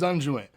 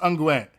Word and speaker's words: unguent: one day to use unjoint oh it is pronounced unguent yo yo i